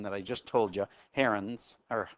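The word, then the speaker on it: Heron's: I just told you herens or it's actually technically it is herens um but don't pronounce the n and you've got hero h e r o n turns into h e o anyway Hero's law the one with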